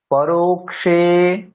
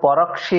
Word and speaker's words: পরোক্ষে: ভালো আচ্ছা এবার পড়ি পরোক্ষে রো টা দীর্ঘ সেজন্য পরক্ষে বললে হবে না রো দীর্ঘ আছে পরোক্ষে কারিহতারম প্রত্যক্ষে প্রিয়বাদিনম বর্জয়েত